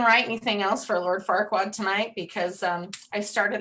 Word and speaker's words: Farquaad: um okay so lord farquaad is who we're roasting tonight he's he's short um his name rhymes with dickwad um he turns down